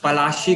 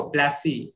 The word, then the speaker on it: पलाशी: उतना एफिशिएंट नहीं है, वो लोग हर वर्ड को प्रोनाउंस नहीं कर पाते। तो जैसे कालीकट जो था उसको कैलकटा कैलकटा बोल दिया, कसीम बाजार को कोसिंग कोसिंग बाजार बोलता था, फिर पलाशी को प्लासी प्लासी, इसलिए बैटल ऑफ प्लासी बोलते हैं।